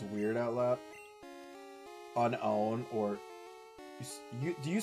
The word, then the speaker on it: Unown: Like, instead of unown, you're saying unknown. I just say it like the word unknown. Like, unknown. Like, double the N, kind of. Up. Okay, so, yeah. See, I know it's technically... It's not spelled like the word unknown, I'm aware.